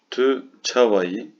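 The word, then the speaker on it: tu çawa yî: Tü çavayı. Yine bakın burada şapkalı bir i var. Türkçedeki i gibi okunuyor. Tü çavayı.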